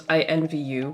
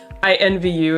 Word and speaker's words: INVU: to check out the mood sampler for taeyeon's invu which i just learnt is how that's pronounced i've just been reading it as in